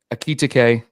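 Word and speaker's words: Ekitiké: But the big news of the day, Steve, is Ekitike deal, and I've heard it pronounced several different ways. But Hugo Ekitike.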